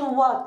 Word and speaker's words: what: بص انا قلت وات مش وات. وات الاتش سايلنت، لو صبرت الاخ موجوده بس ما بنطقهاش.